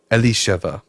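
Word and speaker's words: אלישבע: Um, in Hebrew, it's pronounced Alisheva, means my God is my oath.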